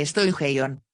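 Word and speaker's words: στοιχεῖον: efecto llaman elemento station pronúnciese estoy ya jon y principio arche de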